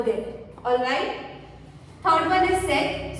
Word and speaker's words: cet: Third one is set. So the pronunciation of second and third will remain the same. It will be pronounced the same way. Set, set. Now, where do we use it?